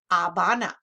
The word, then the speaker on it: Havana: cuba has its capital havana notice it's an h silent h in espanol avana republica dominicana its capital